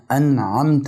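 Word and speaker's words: أنعمت: سبحانه وتعالى هو الانعم فانت بتفتح الحرف بتاعه بتقول صلاه الذين انعمت عليهم انعمت عليهم يعني انت يا رب الذي انعمت عليه خدنا لو خدت بالك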